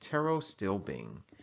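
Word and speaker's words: pterostilbene: have Tarot still being that's right guys it's pronounced Tarot still Bing that is a phytonutrient right so now that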